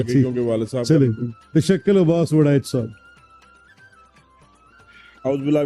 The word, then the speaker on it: تشکل: तशक्कल I would pronounce, तशक्कल जरा rightly pronounce करें ताकि ठीक हो जाए। सर तशक्कल Abbas Waraich. Is इट तशक्कल ही ना? यस यस इट इज।